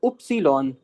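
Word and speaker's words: Ypsilon: इ्स इ्स और ये हो जाएगा उप्सीलॉन।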